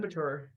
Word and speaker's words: Batur: Is it Batur or Batter? How do you pronounce this? Mount Batur. Mount Batur.